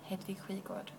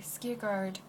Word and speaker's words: Hedvig Skigård: So if you want to pronounce my name is pronounced Hedvig Skigård. If you want to say Skigard or a Hedwig or a Jadviga or a, probably wouldn't remember to